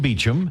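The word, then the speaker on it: Beauchamp: but you pronounce it beum I my parents say I pronounce it wrong and and the p is silent but I think I say be jump there's a little pee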